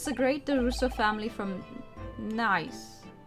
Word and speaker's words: Nice: greater russo family from nice that's not going that's not pronounced nice is it if it's in france nice i don't speak french i'm just going to call it nice i don't care and